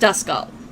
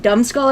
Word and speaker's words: Duskull: I know it's pronounced Duskull. I got my first choice Pokemon, and for some reason, I started calling it Dumbskull at one point. I started calling it Numbskull.